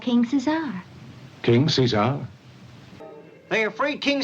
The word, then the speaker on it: King Caesar: name became King Caesar occasionally being pronounced seesar to match the actor's mouth movements you know what it is probably the guardian of the isumi he's called King Cesar King Cesar they afraid